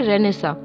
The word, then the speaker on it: Renaissance: इसकी स्पेलिंग तो अलग है लेकिन इसको प्रोनाउंसिएशन ऐसे ही करते हैं, इसको कहते हैं रेनेसा, जिसका मतलब होता है रीबर्थ, मतलब पूर्व जन्म, मतलब नया जन्म जिसे कहते हैं, राइट।